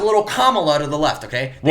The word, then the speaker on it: Kamala: Camila? You mean you're saying your fucking name wrong? It's Kamala.